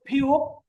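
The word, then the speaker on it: 피읖: ওকে, তারপরে ফিউপ। ফিউপের প্রথমে আসলে উচ্চারণ হবে ফ, আর যদি এটা নিচে বসে তাহলে উচ্চারণ হবে প, ওই যে এখানে প আছে এই কারণে।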